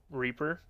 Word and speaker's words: R34P3R: Reaper, as it is spelled, R34P3R, Reaper, on that offlane Elder Titan, so he played offlane last time.